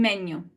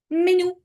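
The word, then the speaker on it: menù: Okay, guys, the correct pronunciation of these three words is città, città. Nazionalità. Nazionalità. Menu. Menu. And you know what? We don't need to guess it or to know it. The word tells us where the stress goes.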